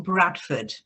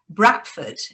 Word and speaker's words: Bradford: born and bred in bradford or bradford if you are spelled with a d pronounced with a t if you're a true bratfordian so they that's a